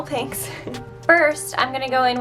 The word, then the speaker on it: Pinx: I'm using the millennial Pink's palette for some reason I totally disregarded the fact that this is spelt with an X and was calling it the millennial pink palette but um it's millennial Pink's first I'm gonna go